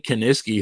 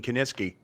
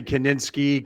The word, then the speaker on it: Kiniski: And I'll be honest with you, reading the wrestling magazines, it took me a long time to pronounce Gene Kiniski. I used to say Kaninsky, Kaczynski. I always still say Kaninsky.